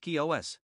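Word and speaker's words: Chios: apparently anchored off the island of chi os pronounced kios another day's journey brought them to the island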